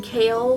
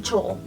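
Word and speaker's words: Chaol: you've been pronouncing wrong I have been announcing kale from Throne of Glass names wrong a lot until I started seeing videos on YouTube about throwing of glass and stuff I was pronouncing his name chel I knew Cho was an awful name and I'm like that cannot be his name I just know it is not his name so when I found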